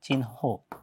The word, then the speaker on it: চিহ্ন: হচ্ছে অপরাহ দেখেন কিভাবে এই চিহ্নর ক্ষেত্রেও দেখেন হ এর সাথে কি ছিল এখানে দন্ত ছিল তার মানে আমরা জানি দন্তন্য টা যদি থাকে দন্ত টা আগে উচ্চারণ হবে তাহলে চিন এবং হ এর উচ্চারণটা পরে যাচ্ছে চিনহ একইভাবে অপরান হর ক্ষেত্রেও